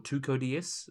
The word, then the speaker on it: TCODS: So we're going to get started with the exhibit animal done by Tossco DS or TCODS is probably the better way to pronounce it.